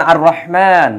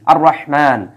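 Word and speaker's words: الرحمن: না যেমন যেমন দেখেন আর রহমান এই জায়গায় কিন্তু রাহমানের পূর্বে আলিফ লাম আছে কিন্তু আলিফ লামের উচ্চারণ নাই আমরা কিন্তু আলিফ লামের উচ্চারণ করি না আমরা পড়ি কি আর রহমান রহমান আসশ শামসু এই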